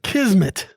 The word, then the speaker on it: kismet: day lance we do i like this one kismet k-i-s m-e-t two syllables it's a noun it means one's fate